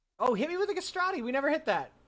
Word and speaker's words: castrati: Oh, hit me with a castrati. We never hit that. Rhymes with pastrami.